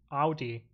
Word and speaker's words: Audi: hard to say because we germans pronounce it out audi i mean yeah the americans it's audi because we're wrong but i can be more correct and go with audi fine that's fine i